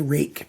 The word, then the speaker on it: Ruike: It's not Ruike or something. It's pronounced like my first name. You pretend the UI is A, and you say Rike, and you'll get the pronunciation correct on this knife.